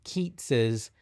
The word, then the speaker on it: Keats: a 19th century poem keats's uh owed on a grecian urn i know their names are spelled the same but they're pronounced differently so it's yates and keats and i also i'll